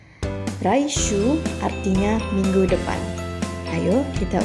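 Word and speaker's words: 来週: Jepangnya adalah mata raishuu pengucapan uh dibaca panjang raishuu artinya minggu depan Ayo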